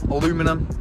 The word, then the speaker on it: aluminium: All you W21 guys know that these are aluminium aluminum as the Americans say.